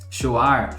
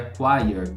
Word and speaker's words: choir: Choir não sei Inclusive a forma que a gente que a gente pronuncia né shar chir é mais ou menos assim que a gente fala quando a gente vê a palavra escrita em algum lugar né mas o certo seria quire quire Ok bom e